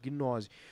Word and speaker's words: gnose: É mudo, gnose.